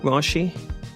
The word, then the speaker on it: Raashi: am I pronouncing that right? Raashi? Raashi, you got it right.